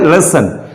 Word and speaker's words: listen: इसके अंदर ध्यान रखेंगे यहां पर T साइलेंट है, T नहीं पढ़ा जाएगा।